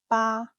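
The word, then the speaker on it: 八: Eight is ba.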